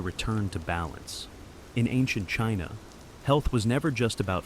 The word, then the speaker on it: qi: In ancient China, health was never just about flesh and bone, it was about energy. The invisible, vital force called qi, pronounced chi, flowed through every living being.